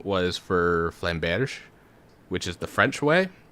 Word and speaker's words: flamberge: English speakers will especially American English speakers will especially be like, oh, Flamberge or Bergie, and it's like no, g. It's extra emphasis on the g.